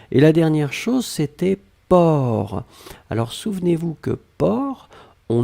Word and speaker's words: porc: vous écrivez p o r c'est d'accord donc port per c'est le sait finale n'est pas prononcé halle est la dernière chose et vous